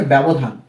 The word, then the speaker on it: ব্যবধান: এরপর রয়েছে ব্যবধান, ব জফলা ব্যা, ব্যা।